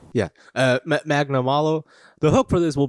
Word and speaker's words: Magnamalo: Yeah, Magnamalo.